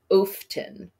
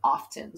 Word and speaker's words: often: we come to often often is interesting because listen it's two syllables off ten and this syllable here the first syllable is an open syllable when we have open syllable where it's not consonant vowel consonant the vowel normally says its name so technically it should say often but it doesn't it says often so this is a